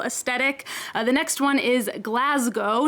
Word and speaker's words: Glasgow: of basic millennial aesthetic the next one is glasgow not glasgow as americans like me might want to say